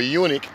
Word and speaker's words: eunuch: want to get married now if you a unic what did Jesus say about the Unix talk